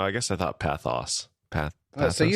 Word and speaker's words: pathos: Both syllables are different than I thought. You thought it was pathos. I thought path. Oh, no. I guess I thought pathos. Pathos.